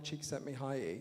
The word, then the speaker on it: Csikszentmihalyi: the phrase, an amazing man named Professor Mihaly Csikszentmihalyi.